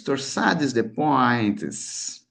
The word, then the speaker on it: Torsades de pointes: Como é que se pronuncia isso em francês? Torsades de pointes, né?